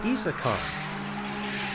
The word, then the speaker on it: Isaan: word that I have been mispronouncing name wrong and it's actually isaan so the isaan I